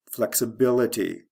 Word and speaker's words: flexibility: Flexible, flexibility. First syllable to third syllable.